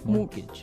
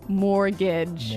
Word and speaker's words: mortgage: with a t yeah it has a t in it but you don't pronounce it you say mortgage morgage so not Mort mortgage not mortgage morgage morgage yeah I had